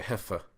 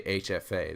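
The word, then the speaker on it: HFA: would say it because you don't want to say a heffa because nobody uses hf they say hf a they would never say you know try to pronounce that ok so let's go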